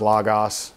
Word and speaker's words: Logos: I pronounce it now as Logos.